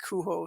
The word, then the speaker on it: Cujo: that name of course in in Spanish um it's pronounced kuo so that's how they